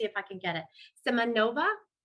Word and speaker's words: Semyonova: Semyonova? Close. It's Semyonova.